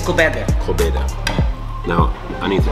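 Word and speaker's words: Koobideh: And how you pronounce this? It's kobeda.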